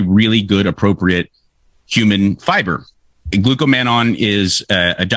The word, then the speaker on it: glucomannan: have mine right here it's actually glucomannan not glucomannon this is the one i